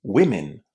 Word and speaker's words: women: women or many women the vowel sound in the first syllable is a short i. This is one of the few cases in English where the letter O is pronounced as a short I.